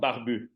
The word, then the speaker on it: Barbu: So it's called Barbu.